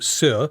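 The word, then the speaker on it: Saor: Sir is spelled S-A-O-R, right, Claire? Yeah.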